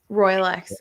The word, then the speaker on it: Royalex: of like the um roy alex holes is that am i pronouncing it right rolex royalex sorry i knew that was wrong royalex holes with wood trim